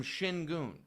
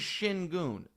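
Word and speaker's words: Şengün: He is calling him Shin Goon. He's the best player on the Rockets. He's their only Allstar. His name is Shinon.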